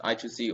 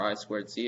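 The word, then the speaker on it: I²C: using i squared c it's written as i2c so you can either pronounce it as i2c or i squared c and most people will understand so this is just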